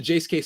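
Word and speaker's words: Jase Case: they call it the Jace case there we go it Rhymes the Jace case that provides five life-saving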